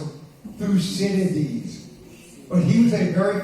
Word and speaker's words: Thucydides: For anyone who would like to know how to pronounce it, Thucydides.